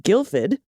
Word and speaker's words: Guildford: the road is the town of guildford which is pronounced guilford in the other direction